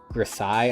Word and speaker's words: grisaille: not miniature painting, called grisaille, I think is how you pronounce it. It's in French, I think.